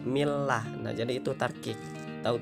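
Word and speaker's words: الله: yang berbaris kasrah dan jadi hukum membaca lafadz Allah ini tarqiq atau tipisnya cara membacanya itu inilah bukan mi loh Nah itu salah harus Mi lah nak jadi itu tarqiq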